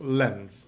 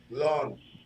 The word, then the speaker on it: Lens: goal are we conceded against lens or Lawns or whoever let's pronounce it right launch alone right it's like long yeah all right who